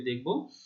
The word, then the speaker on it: দুঃখ: আচ্ছা, পরে আরেকটি উদাহরণ দেখো, যেমন দুঃখ, তাহলে শেষের অ, তার পূর্বে রয়েছে বিসর্গ, তাহলে শেষের অ এর উচ্চারণ ও এর মতো হচ্ছে, দুঃখ।